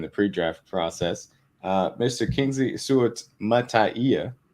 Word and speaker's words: Suamataia: Kingsley Suamataia, because you got to have the extra syllable at the end. So it's syllable at the end. That's how he said it was.